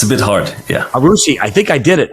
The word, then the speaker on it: Aroussi: last name it's uh my last name is arusi it's a bit hard yeah arushi I think I did it I think I